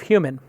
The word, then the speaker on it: HVMN: Jeffrey is the founder, the co-founder and CEO of Human, which is spelled HVMN.